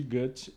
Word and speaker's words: Goethe: Eh, aquele grande ou Gut, né? Como se fala originalmente, o autor de Fausto inclusive, né?